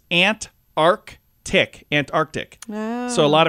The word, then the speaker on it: Antarctica: It's Antarctica.